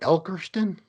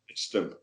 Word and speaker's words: Ilkeston: Elkerston? What? It's called Ilk, I-L-K, Ilk. Yeah, yeah. Ilkeston. Ilkeston. Okay.